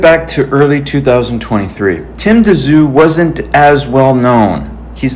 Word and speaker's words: Tszyu: versus Tim Tszyu and I I think it's pres out pronounced Tszyu. A lot of people are saying Zoo, Tim Zoo, but that's okay.